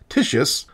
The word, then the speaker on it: Titius: In 1766, a German astronomer named Johann Daniel Titius, who Latinized his name to Titius, which, because this video already has 1 unintentionally hilarious name to deal with, I will pronounce Titius, discovered a curious pattern in the order of the planets.